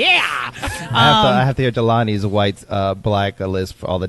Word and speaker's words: Jelani: It's Sure believe thing, it's pronounced Jelani.